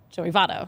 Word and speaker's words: Joey Votto: Pronunciation being? Joey Votto.